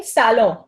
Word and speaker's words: salon: But Indians kaise pronounce karte hain ise? Saloon, correct pronunciation क्या है? salon. एंड एन बहुत ही कम सुनाई देता है, so almost silent but not exactly, so इट इज salon.